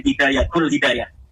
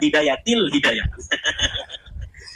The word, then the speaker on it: Hidayatil Hidayah: Kenapa ada huruf jer B katanya dibacanya Hidayatul Hidayah? Harusnya Hidayatil Hidayah.